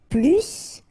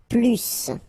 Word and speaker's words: plus: French language with this plus okay because in some cases you will have to pronounce the final s and in other cases you won't so what I would